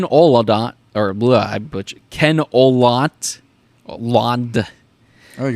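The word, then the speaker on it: Olandt: can't pronounce it no the way I'd say that's put an emphasis on the D and then the t a weird last name sorry yeah and and uh I think it's aant like you said aant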